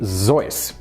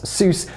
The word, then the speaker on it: Seuss: The proper pronunciation of Seuss is actually Zeus. This is because it's originally a Bavarian name. However, given the fact that most Americans incorrectly pronounce it as Seuss, Theodore Geisel ultimately gave